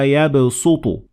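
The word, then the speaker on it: يبسط: Wallahu yaqbidu wa yabsutu. And it means that even though the word is originally pronounced or written using the sad, like in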